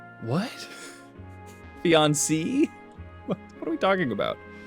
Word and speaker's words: fiancé: Fiancé versus fiancée. Fiancée. Fiancé. Fiancé. Fianza-hoo. A fianza-ha. A fiancé-ah-ha-ha. Fiancé with the accent means going up. Going up means you pronounce the E.